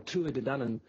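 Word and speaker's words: Tuatha Dé Danann: So the Tuatha De Danann, or Tua De Danann, is the proper Gaelic Irish pronunciation, became known as the Dinashee, and Dinashee is Gaelic for people of the mounds.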